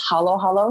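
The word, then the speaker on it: halo-halo: think of it like in the philippines we use short vowels so yeah there's not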